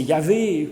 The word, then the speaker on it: Yahvé: Ce Yahvé, Donc c'est le tétragramme YHWH qui est parfois prononcé Yahvé, qui se prononçait plus à l'époque Yahoo en fait.